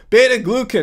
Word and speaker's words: beta-glucan: It occurred to me that in my video, I called out Ken Berry for pronouncing the word wrong. Yeah, beta-glycans? No, it's glucan. Beta-glucan, not glycan.